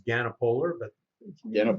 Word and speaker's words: Ganapoler: today you are welcome quick correction on the name pronunciation it's ganapolar but you know call